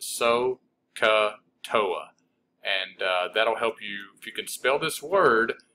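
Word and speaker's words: SOHCAHTOA: You kind of got silent H's, but you pronounce it so, ca, toa.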